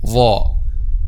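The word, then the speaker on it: ظاء: So the tip of the tongue in this case touches the edge of upper two front incisors. Okay, the tip of the tongue touches the edge of upper two front incisors. Okay, this is the pronunciation of the letter ظا.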